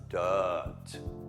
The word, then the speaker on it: dirt: Then the dirt. Don't pronounce the R.